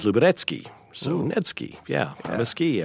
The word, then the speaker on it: Luberecki: Nedski came from, it was a nickname in the Boy Scouts, I think, because the real Polish pronunciation, see, I'm a professional at this, of Luberecki is Luberecki.